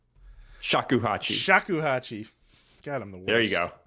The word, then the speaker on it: shakuhachi: Get that Sakuhachi. Am I saying that right? Shakuhachi.